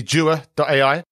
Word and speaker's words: Jua.ai: You are the head of products at, I'm hoping I'm pronouncing it correctly, Jua.ai.